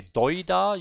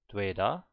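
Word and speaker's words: 되다: You don't say doida, you say dweda, right? Dweda.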